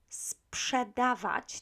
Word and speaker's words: sprzedawać: Now, difficult verb, sprzedawać, to sell. You know that PRZ is pronounced psz, so you need to make the S sound before you say psz.